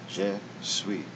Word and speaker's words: Je suis: And in French, they simply add an I. Je suis. The S is silent. Je suis.